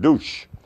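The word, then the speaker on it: Dutschke: immensely this is something like a investigation Everett douche is his name and that's how you pronounce it douche it's spelled d-u-t-s-c-h-k-e but it's douche douche and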